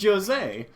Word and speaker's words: Jose: life my name is Jose oh Jose they actually pronounced the J wait what his name is Jose I'm not calling him